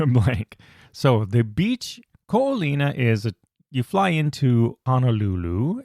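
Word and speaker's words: Ko Olina: Ko'ohino. Ko'olina.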